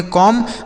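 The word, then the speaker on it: comb: अगर एम के साथ बी लिखा होता है ना एम के साथ ऐसे बी होगा तो यह बी साइलेंट रहेगा। मतलब इसको नहीं पढ़ा जाएगा।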